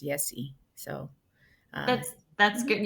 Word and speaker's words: Yesi: So, it's actually Yesi with the Y. Yesi with a So, Y. yeah, I know it's pronounced sometimes in Mexico like, but my mom wanted to make sure I was pronounced Yesi.